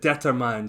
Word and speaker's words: determine: this one Derek uh what I often hear is I often hear the mine at the end and the syllable stress